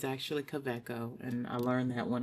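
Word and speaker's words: Kaweco: And it is pronounced quecco. It's German. It's K A W E C O. So, the W is a V. Just so people know cuz some people say KCO or whatever. It's actually Coco.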